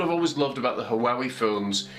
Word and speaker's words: Huawei: always loved about the haawi phones I think they're actually called Hawaii phones but I always pronounce them haawi I enjoy haawi it